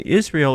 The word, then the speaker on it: Israel: And Israel is that 3-syllable word that represents your higher self, your superconscious mind. That's Isis is Ra, and El, divine, of God. So that's you.